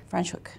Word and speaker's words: Franschhoek: I think when we did like a really quick tour through, how do you pronounce that? Something. Franschhoek. Franschhoek, yes, through there.